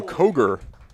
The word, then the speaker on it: Koger: And we have my first and hopefully only pronunciation change of the game, because head coach Adam Koger is the way you pronounce that name.